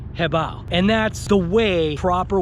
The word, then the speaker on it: HoBao: is actually pronounced h-e-h-b-o-w like if you were to Bow okay so like if you would have so when you put the two together it's called hebao and that's the way